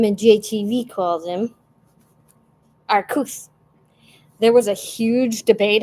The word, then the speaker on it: Arceus: Originally, they were going to say Arceus, but then they realized that that's too close to the way the British say the word ass, and so they changed it.